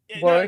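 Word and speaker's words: Warwick: Everybody else, am I getting his name wrong? War Davis is correct.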